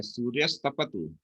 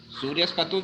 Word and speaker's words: सूर्यस्तपतु: सूर्यस्पतु क्यों पढ़ रहे हो? पतु है इसमें। मैं बता रहा हूँ दो शब्द हैं आपके, सूर्यस तपतु। ता का उच्चारण क्यों नहीं कर रहे हो?